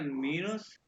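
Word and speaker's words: Minus: अच्छा ये देखो, अच्छा माइनस को कहते हैं, माइनस की स्पेलिंग इंग्लिश वाला नहीं है, इसको कहते हैं मीनस।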